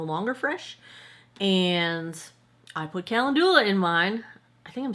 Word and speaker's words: calendula: I've heard people say like calendula. I think I'm putting the emphasis on the wrong syllable.